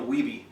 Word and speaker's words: Wiebe: name on camera so it's wiebe in case any of you are wondering how that's pronounced we've just been hanging